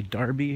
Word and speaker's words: Derby: It's spelled Derby, but they say Derby here, I guess.